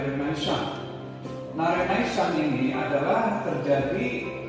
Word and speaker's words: Renaissance: Nah, yang pertama misalkan Renaissance, karena ini dari bahasa Prancis maka dibacanya Renaissance.